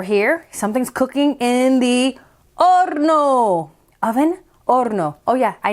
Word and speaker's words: horno: And then over here, something's cooking in the horno. Oven, horno. Oh yeah, I know. Do you see the H? Not pronounced en español. Horno.